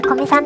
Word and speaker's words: 古見さん: まず、コミさんは古いにみと書いてコミさんで読みます。